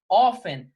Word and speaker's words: often: sentido de frequently of seria aí frequentemente tá offen vai significar frequentemente pessoal presta muita atenção ó com a pronúncia tá esse offline a gente não pronunciou